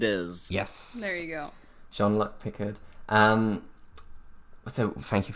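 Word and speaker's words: Jean-Luc: better um it is yes there you go Sean luck Pickard um so thank you very much for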